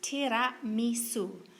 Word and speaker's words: Tiramisu: Tiramisu is actually pronounced Tiramisu, which literally means pull me up or lift me up.